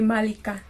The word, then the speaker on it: Malika: Also, Malika is just pronouncing it like you would say Malika. Like when you're now pronouncing my name in Luya, you say Malika. Okay. Malika. Okay. Malika. Malika. Yeah. Okay, got it. Yeah. So emphasis on the first syllable.